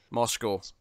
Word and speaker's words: Moscow: There's literally a cow in the name. Moscow. That's not how it's pronounced.